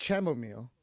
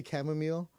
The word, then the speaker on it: chamomile: says Betto it's not chamomile the H is silent Ron I know how